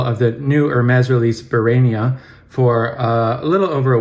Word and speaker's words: Barénia: I realized just before clicking record the accent on the E, which usually turns E into A, so I imagine it's called Barénia and not Barénia as I had been saying it in my mind.